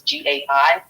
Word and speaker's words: Gay: It's originally French, and the pronunciation was Gai.